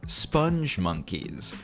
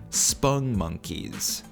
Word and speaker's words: Spongmonkeys: important to note that spun monkeys are not pronounced sponge monkeys as they are often mistakenly called by folks myself included until i made this video they are called spung monkeys according to my research